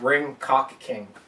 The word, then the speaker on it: Ring Ka King: It's pronounced Ring Cock King.